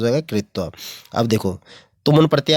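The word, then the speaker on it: क्त्वा: पीछे त्वा लगाओ तो कत्वा हो जाएगा, कत्वा, त्वा क साइलेंट होता है त्वा लगता है।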